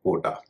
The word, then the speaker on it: quota: जैसे एक शब्द आप स्क्रीन पर देख सकते हैं, QUOTA। इसे लोग कोटा कहते हैं, इसका उच्चारण होता है कोटा।